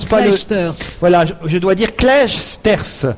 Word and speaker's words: Clijsters: J'ai dit Kim Clijsters, on ne prononce Non, pas le... Kleisters. Voilà, je dois dire Clijsters. Kleisters.